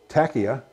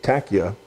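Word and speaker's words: taqiyya: uh that doctrinal i'll talk about is called tachia it's spelled different ways t a q q q i y a and some put an h on there so there's multiple spellings of it tachya and this means we've talked about a little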